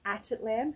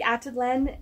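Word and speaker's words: Atitlán: in Lake attit Lan I'm going to say it properly attit Lan as people have corrected me a few times attit at Tian I blend it all together um Lake atad Len so it's actually a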